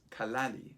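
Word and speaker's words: callalli: that starts with tl the t is dropped so for example kali which means house when combined with flali which means land becomes kaladi which means house land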